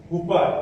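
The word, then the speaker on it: חופה: हुपा, इसको कूपा हम लोग सीखे हैं, कूपा, कहीं कहीं हुपा भी बोलते हैं उच्चारण में।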